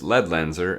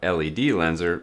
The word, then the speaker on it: Ledlenser: few others including this lead lenser ml6 which we'll take a look at today and yes the correct pronunciation is lead lenser and not LED lenser like you might think lead lenser is a German company